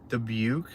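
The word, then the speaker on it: Dubuque: form an opinion about deuk Iowa I'm probably pronouncing that really wrong oh man debuk debuk okay got it please stop spamming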